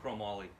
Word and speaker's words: Chromoly: How do you say it? Chromoly. All chrome moly.